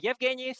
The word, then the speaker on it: Yevgeny: And the Yevgeny, his name here is spelled like as Eugene, more international type of pronunciation.